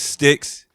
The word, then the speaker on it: ST1XX: right yo what's up my name is stixx s t the number one xx if you spell it